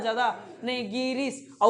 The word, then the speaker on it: गिरीश: उच्चारण क्या हो रहा बोलिए ना गिरीश गी पे भार पड़ रहा है ज्यादा नहीं गिरीश और वो गी शुरुआत